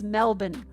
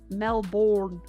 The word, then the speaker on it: Melbourne: It's Melbourne. It's not Melbourne. It's not pronounced like Jason Bourne.